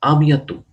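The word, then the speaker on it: à bientôt: या see you तो आबियातु आबियातु तुत नहीं कहना आबियातु लास्ट वाला टी हमेशा फ्रेंच लैंग्वेज में साइलेंट होता है तो आबियातु आबियातु see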